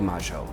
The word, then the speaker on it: Mayo: gorgeous buildings and sites I definitely said it wrong is argentinians pronounce it as Plaza de Maggio it has long served